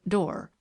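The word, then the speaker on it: Doré: lovely pictures in it made by a man named door she pronounced it door the book is one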